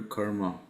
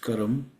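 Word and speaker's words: कर्म: because it gives you the return of your karma Saturn is the significator of profession and the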